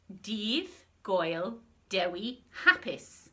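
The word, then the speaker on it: Dydd Gŵyl Dewi Hapus: words on the screen which you pronounce div goyal derwe happis should we try that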